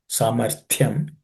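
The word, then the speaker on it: सामर्थ्यम्: Here the it is actually aspirated. Samarthyam. It's a second letter in the third class of consonants.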